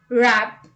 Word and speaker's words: wrap: w rule number one w is not pronounced at the beginning of a word when it is before the letter r let's look at the examples rap right wrong ring wreck